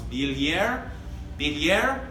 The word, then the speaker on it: Billière: It's Billière. Watch the tongue on that, so it's not a hard L.